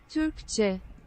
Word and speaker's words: Türkçe: How do I pronounce it? Türkçe.